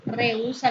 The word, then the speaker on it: rehúsa: La palabra rehusar aquí forma un hiato porque es una excepción que no cumple la regla general de acentuación. Rehúsa sí lleva tilde y forma un hiato, la unión de una